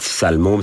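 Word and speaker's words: Salle Mômes: Alors, justement, puisqu'on est à la voix haute, salle môme, ça s'écrit salle, plus loin, môme, M-O-M-E-S. Voilà, c'est pas un sale môme.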